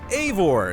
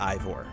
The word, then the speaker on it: Eivor: Eivor is pronounced Eivor. It's not Ivor. It's Eivor.